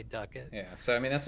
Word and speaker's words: Ducat: duck duck it the the pronunciation there i say ducat as well but i know duck it's correct and uh so i will be good to people on commentary and say duckett yeah so i mean